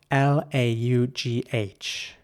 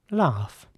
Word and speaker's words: laugh: In British English, people would say laugh or laugh. Basically, once again, with an R sound, laugh. Laugh. In American English, it would be more like laugh. Once again, with an A sound. And what's important here as well is that this word is spelled G-H at the end, but it's really pronounced, like an F.